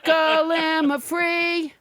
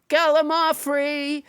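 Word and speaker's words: gallimaufry: cents let's never forget glamour free oh excuse me let's never forget gala mafree which i pronounced wrong until nobody james hyder corrected me it's a noun that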